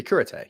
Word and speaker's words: Cúrate: that how you say you don't say curate you say curate you just say guess